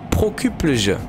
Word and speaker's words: Prokuplje: Ah oui, alors comment le prononcer? Prokuplj. Voilà. Oh punaise, j'ai bien dit quand même. Hein. Enfin, je pense. Prokuplje.